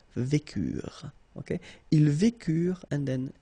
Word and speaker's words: vécurent: Nous vécûmes, final S not pronounced, vous vécûtes, same thing here, ils vécurent, so remember, mark for the plural, E and T is not pronounced phonetically, you don't get it, so vécurent.